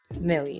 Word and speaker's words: Mele: Am I pronouncing that correctly? Say it Mele, but it works everywhere. Mele.